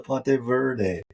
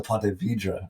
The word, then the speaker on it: Ponte Vedra: Yeah, she did correct our pronunciation there. Very correct, like very quick. She's like, it's a Ponte Vidra, right?